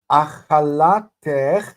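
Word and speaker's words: אכלתך: Achalatech, notice that the stress is still on that lamed. So what we have here is a closed, unaccented syllable. So eich becomes ech. It's short.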